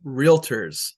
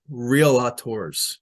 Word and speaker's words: Realtor: itself five we will pronounce it Realtors not real authors six we will use